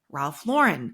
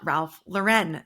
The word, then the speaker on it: Ralph Lauren: and key company Executives refer to him as Ralph Lauren not Ralph luren so if you have